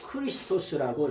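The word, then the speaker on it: Χριστός: 말인데 누구를 만났냐 메시아를 만났다는 이것을 뭐냐 70인역에서 크리스토스라고 이렇게 발음하죠 크리스토스라고 하는 말은 뭐냐 그 말 가운데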